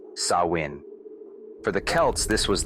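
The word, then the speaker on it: Samhain: They called this night Sam Hoyen, pronounced sawin.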